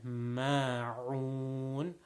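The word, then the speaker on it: الماعون: So وَيَمْنَعُونَ, again there's a ayn there, and then ma'un, another ayn over there. So make sure that you pronounce those ayns as strong as you possibly can.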